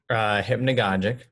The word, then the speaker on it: Hypnagogic: So can you actually maybe let's start off by maybe pronouncing them properly for us, so I don't just constantly keep doing that to you. Hypnagogic.